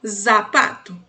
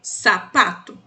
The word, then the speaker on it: zapato: A gente vai imaginar que ele tem som de 2 S's, por isso eu coloquei essas sílabas aqui, sa, se, si, so, su. Por exemplo, essa palavra aqui você falaria sapato, que é sapato no português, e não zapato, sempre sapato, certo?